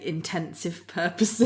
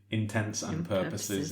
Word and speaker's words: intents and purposes: Instead of intents and purposes, say intensive purposes. Yes, that's exactly what I was going to say. Yeah. Intents and purposes.